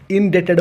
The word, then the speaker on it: indebted: यही वार्ड रे B silent अच्छी। बी को उच्चारण करा जाएनी। यह को इनडेटेड बोली उच्चारण करा जाए।